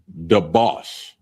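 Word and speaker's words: דבש: The next one is honey or syrup, and it's pronounced debauch, and it's spelled D-A-B-A-S-H, D-A-B-A-S-H, debauch, and that's honey or syrup.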